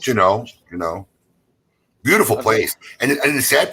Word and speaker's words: Juneau: But from Juneau, you could drive. I think you said it Juneau. Is that how they say it? It's Juneau. The locals. Juneau.